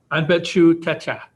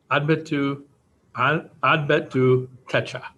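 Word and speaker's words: Anpetu Teca: And so the American Indian Parent Advisory Committee recommendation to the school board for the naming of the building, the proper pronunciation is Ambetu Techa Education Center.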